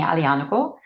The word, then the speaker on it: Aglianico: I love Aglianico. I probably pronounce the G too often. Thank you for reminding me, Aglianico.